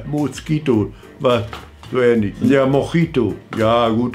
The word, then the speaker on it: Mojito: Ich bin dann von Sex on the Beach umgestiegen auf Mosquito. Ja, Mosquito war so ähnlich. Ja, Mojito. Ja, gut, dann wird das Spanisch ausgesprochen. Mojito, ne?